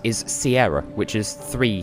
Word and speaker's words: Sierra: her miss reading and that's why she says seen her instead of Sierra I don't know she